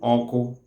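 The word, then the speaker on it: ọkụ: The fire itself is called oko in Igbo land or Igbo language.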